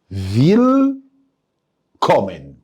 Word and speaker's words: Willkommen: فيل كومن، بترحب بيا. سمعك من جوه بتقول لي شبه ويلكم، برافو عليك، بس بنطقنا بقى الالمان.